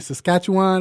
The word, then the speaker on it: Saskatchewan: So you definitely have to come back when you get a chance after you on that I can't even say that name, Saskatchewan.